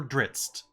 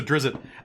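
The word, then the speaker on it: Drizzt: There's an apostrophe and a T, so there's a glottal stop between the Z and the T.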